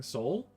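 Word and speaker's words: SOVL: Um yeah, it anyone who's who's playing any kind of um uh Warhammer Fantasy Battles campaign, I would highly recommend playing Soul, play through the campaign.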